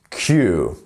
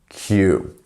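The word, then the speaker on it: queue: So the U and E here is silent. So Q, Q, Q.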